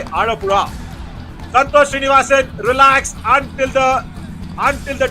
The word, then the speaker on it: Alappuzha: वो वाला जो Alappuzha, आप Alappuzha. एलपुरा, तो आप वो जो प्रोनाउंसिएशन होता है वो थोड़ा आर की तरह होता है, और जैसे तमिल में